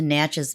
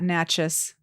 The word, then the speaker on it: Natchez: just um a couple hours away up to Natchez Mississippi which is a fabulous little town is